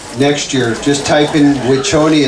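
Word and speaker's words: Wiconi: Next year, just type in Wichoni. It's spelled W-I-C-O-N-I, Wichoni.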